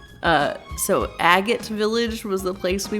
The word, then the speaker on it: Agate: But as a kid, I always pronounced it Agate Village. And so that's how I pronounced it during the recording. But I know that's wrong. I just pronounced it wrong as a child.